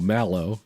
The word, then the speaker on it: Mallow: Like the word maul and the word O. Maloo. Mal like malware. Oh, Malow.